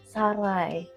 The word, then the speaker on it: sarai: Yang Mbak tahu pengucapannya bagaimana? Sarai.